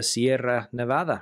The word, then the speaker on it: Sierra Nevada: If you go to Sierra Nevada, you want to see the Sierra Nevada, right? Exactly, exactly that. Very good pronunciation of the double R there, Stuart.